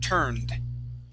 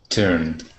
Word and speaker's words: turned: MH all right so if a word ends with an N okay any word that ends with the n Sound and you have an e d here okay that makes a D sound the word is turned turned good one more